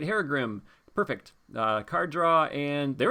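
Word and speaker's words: Herugrim: So if she gets Harugum on her, she can use her Haragrim? Haragrim, that's how you say it.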